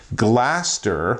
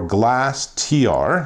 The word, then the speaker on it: GLAS.tR: install one of these this is the spigen blaster or glas.t are depending how you pronounce it tempered glass screen